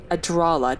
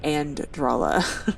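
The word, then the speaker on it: Adralla: We looted these scrolls of, and I keep saying it wrong, it's Adrala, not Andrala.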